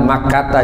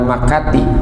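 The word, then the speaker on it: مكة: Jadi bainal Makkata, jangan Makati, bainal Makkata wal Madinati gitu bacanya, di antara kota Mekah dan kota Madinah.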